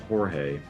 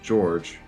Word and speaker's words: Jorge: wakes up George 052 pronouncing his name Jorge George tries to tell the instructor's name is pronounced George the instructor hits him